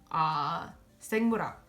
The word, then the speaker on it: 생물학: Another example would be 생물학. So 생물학 means biology in terms of school and majors. So 생물학, it's an R sound because it has that hiet, right? That H sound afterwards.